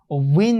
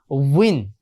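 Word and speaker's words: وٍ: করি তাহলে কি হবে, উইন হবে, উইন। সো এটা মনে রাখবেন, ওয়াও দুই জের উইন।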